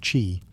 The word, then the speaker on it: qi: At the heart of acupuncture is the concept of qi, pronounced qi, the life force or energy that flows through the body along invisible channels called meridians.